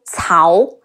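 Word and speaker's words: 曹: I recently noticed another common mispronunciation is Cao, like south, like Cao Cao. The C in Cao is closer to the English TS sound, and it's Cao Cao.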